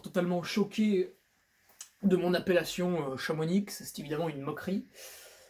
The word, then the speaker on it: Chamonix: Et je sais, t'es encore totalement choqué de mon appellation Chamonix, c'est évidemment une moquerie. On ne prononce pas le X.